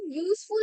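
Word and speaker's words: useful: এখানে দেখো ইউজফুল আমরা যখন বলছি, ঠিক আছে, ইউজফুল এর ইউজটাকে, ওটা কিন্তু ওয়াই ইউ প্রোনাউন্স হচ্ছে, তো ওয়াইটা কিন্তু কনসোনেন্ট।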